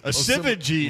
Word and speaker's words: Asivagi: Asivagi is now how you pronounce it, but he didn't correct it until his senior year. Because he let everybody pronounce it the way it looked like it was spelled.